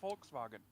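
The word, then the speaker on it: Volkswagen: I mean, if if you want to be going by how it's actually pronounced, folks var. Yeah. Except the way it's actually pronounced is Forkswagen.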